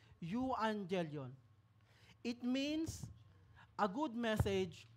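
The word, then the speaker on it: euangelion: sabi diyan evangelism comes from a Greek word you Angel yon medyo Mahirap po siyang bigkasin you Angel yon it means a good message or the gospel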